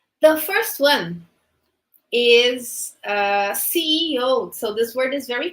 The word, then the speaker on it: CEO: we we generally say Co but the correct way is c e o we have to pronounce the three letters c-e-o okay uh which is